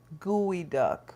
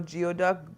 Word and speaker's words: geoduck: Gooey duck or no geoduck gooey duck?